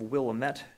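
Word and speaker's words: Wilmette: is a case called dating versus Village of Willamette Davion is spelled d-a-d-i-a-n Willamette as w-i-l-m-e-t-t-e if you want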